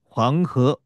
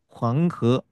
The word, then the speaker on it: 황허: 황허 이렇게 합니다. 황허. 이것을 우리말로 읽으면 황하가 되고요.